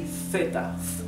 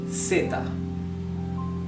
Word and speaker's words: zeta: pronounces in Latin America, I can tell you that theta is pronounced zeta, okay, in the continent. In Spain it would be theta.